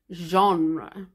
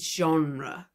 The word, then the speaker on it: genre: especially in British English we rarely pronounce them the way we do with genre for example the British English theater or Center are more of an extension of the T like tur rather than pronouncing the r and then the E like Jean this word also started